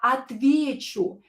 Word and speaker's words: отвечу: Here, я отвечу. The stress is in a stem of the word. So not on the U.